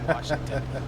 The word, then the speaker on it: Washington: people who say Washington there's no r Washington all right so we're